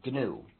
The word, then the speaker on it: GNU: the correct pronunciation is gnu so please pronounce a hard G if you talk about